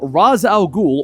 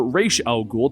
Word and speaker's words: Ra's al Ghul: universe the history of raz al ghul or reish al ghul depending on how you want to say it constantly shifts depending on